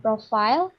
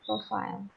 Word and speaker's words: profile: vocab platform platform and profile not Prof but profile ya tapi kita sudah